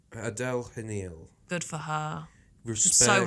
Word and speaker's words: Adèle Haenel: I don't know how you pronounce it. Oh, no, you mean Adele Hanil. Adele Hanil.